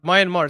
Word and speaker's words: Myanmar: I know it's hit um minan Myanmar Myanmar. That's banan. What? What? Myanmar. Mayanmar is how you say that's how you say I say it right.